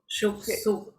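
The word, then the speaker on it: Yuszczuk: How do I say it? Marina Juzkuk. Shuksuk. Shuksuk. Yes.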